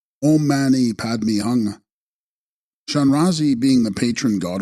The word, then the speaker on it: Om Mani Padme Hum: These are of the essence mantra of Shanrazi, Avalokiteshvara, being Om Mani Padme Hum, pronounced Om Mani Padme Hung.